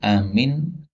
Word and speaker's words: amin: Karena amin kan bacanya panjang, ya. A-nya dua kali ketukan saja. A, adapun min-nya boleh sampai 6, ya. Min. Nah, rata-rata orang itu kepanjangan aminnya, A-nya terlalu panjang.